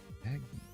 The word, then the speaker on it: Magneto: Check the pronunciation. It's mag knee toe. Magneto.